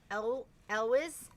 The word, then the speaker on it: Elwes: Elwes.